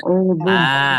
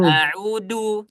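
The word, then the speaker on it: أَعُوذُ: Yang seharusnya a'udzu menggunakan huruf dzal, A'udhu. ya. Jangan sampai bacanya A'udhu. a'udu.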